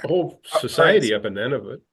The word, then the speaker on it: Nunavut: Nunavut.